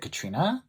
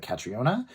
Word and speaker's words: Catriona: I only I know one person who spelled spells their name this way and she pronounces it Katrina even though it looks like catriona so I'm going to say Katrina by Katrina Stevenson uh her website is www by catrina.